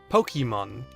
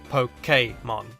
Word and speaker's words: Pokémon: supposed to be pronounced poke a mod the accented e which is more commonly used in French words makes more of an a sound like in the word cafe for example now I'm